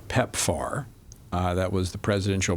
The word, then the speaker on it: PEPFAR: Well, we have to remember that many of these NOS's that uh that get the grants from PEPAR, they have enormous budgets.